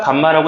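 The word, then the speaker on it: γ: 자, 3차 방정식의 세 개는 알파, 베타, 감마라고 이름 붙이자. 요거는 그냥 r처럼 쓰고 감마라고 읽으시면 됩니다.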